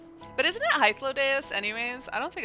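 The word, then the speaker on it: Hythlodaeus: so it doesn't sound right but isn't it hyphlodeus anyways I don't think it's Hitler it is I think it's high flow days that's how I pronounce it if I pronounced it fully it's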